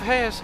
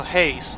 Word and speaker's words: Hayes: to agree I believe Hayes is pronounced without the e so it's like Grace but with age I also Haze okay relatively perfect yeah